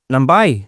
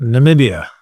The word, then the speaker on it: Namibia: Numbai. Is that how you pronounce it? Namibia. Yeah. N there you go.